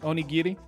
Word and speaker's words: onigiri: were 151 different varieties it's pronounced like gif onigiri right onigiri there were 152 51 different varieties of onigiri Oh hard G as in Gig or GERD right yet again okay